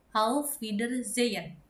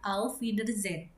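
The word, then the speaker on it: Auf Wiedersehen: Kemudian how feeder zen artinya adalah goodbye. Atau bisa juga dibaca a feeder zen.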